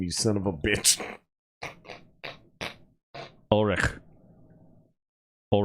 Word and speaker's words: Ulrich: son of a bitch ulrich all right i know it's all rick but no one pronounces that that way so when you say